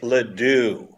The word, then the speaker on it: LeDoux: Chris whatever that is it's Chris LeDoux Ledoux if you said it rhyme with you I would remember that you're wearing a